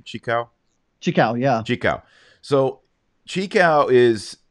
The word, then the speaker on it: Xicão: Xicão, yeah.